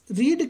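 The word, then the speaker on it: read: इज आएगा, इज, और रीड की तीनों फॉर्म की स्पेलिंग एक जैसी होती है। फर्स्ट को रीड पढ़ते हैं, सेकेंड और थर्ड को रेड पढ़ा जाता है।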